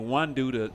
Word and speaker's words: Wandu: I think that's how you say his name, Wandu, the tight end. Wandu like Guardians of the Galaxy.